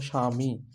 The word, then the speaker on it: স্বামী: ব ফালা শব্দের প্রথমে যখনই দেখবেন যে শব্দের প্রথমে ব ফালা তখনই সেই ব ফলার আর উচ্চারণ হবে না ব ফলার উচ্চারণ হবে